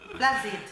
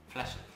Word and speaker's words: Flushed: No, pero es Flaccid. Flashed. Eso se pronuncia flashed. Flashed. Es así. Flushed. Pero es flashed.